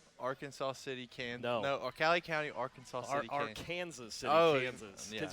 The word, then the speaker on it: Arkansas City: different we pronounce the we pronounce it a little different in Kansas the river and the town so but uh yeah